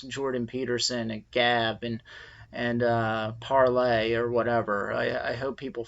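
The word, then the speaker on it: Parler: and now there's a parlay and it's spelled PA are lar and it's the French word palais like to speak i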